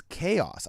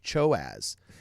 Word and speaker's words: chaos: My first close, I didn't know how to pronounce chaos. I thought it was Sonic Choaz.